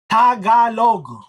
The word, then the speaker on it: Tagalog: Tag along, dude. It's Tagalog. Tagalog. I find it funny that some people I love Big Jiggly Panda's um uh pronunciation of Tagalog is T. Yeah. Tagalog. It's Tagalog.